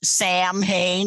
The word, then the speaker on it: Samhain: It was based on an old Irish Celtic holiday called Samhain. And by the way, that's spelled Samhain, which is why there are a million horror movies with characters named Sam Hain in them.